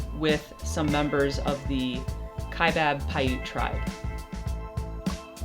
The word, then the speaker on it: Kaibab: I've been saying Kaibab, which is definitely wrong.